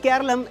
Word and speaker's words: Keralam: The word Keralum is how the state has traditionally been pronounced in Malalam.